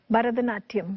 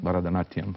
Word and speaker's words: Bharatanatyam: Which is the correct pronunciation? Bharatanatyam. Bharatanatyam, okay.